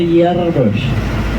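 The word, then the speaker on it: jaar: tulisannya tadi di sana ada tulisan Jar dibacanya yarar artinya tahun dan itu pasar nah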